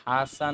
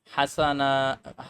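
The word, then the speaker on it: حسناء: হবে কি হয়ে গেল হাসানা হাসানা না এটা হবে হাসনা কারণ এখানে তখন সাকিন হয়ে যায় যাই হোক ওই চেঞ্জটা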